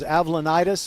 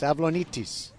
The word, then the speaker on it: Avlonitis: I was thinking it was Avlonitis or Avlantis, but it's Avlonitis.